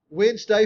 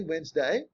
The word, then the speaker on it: Wednesday: of War rather um Wednesday for Wen the chief God wen's day Wednesday that's why Wednesday has that D in there we don't pronounce Thursday is Thor's day